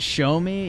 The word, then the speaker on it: Xiaomi: Actually, it's pronounced show me.